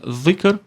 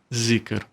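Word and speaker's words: ذكر: Na verdade se pronuncia zikr, mas como é uma letra que não existe no português, nós dizemos zikr, né?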